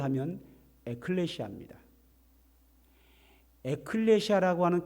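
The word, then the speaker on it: ἐκκλησία: 그런데 교회라는 말을 성경에서 기록할 때는 헬라어로 기록이 됐는데 발음을 하면 에클레시아입니다.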